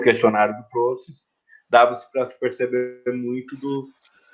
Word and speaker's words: Proust: É o Proust, né? A pronúncia.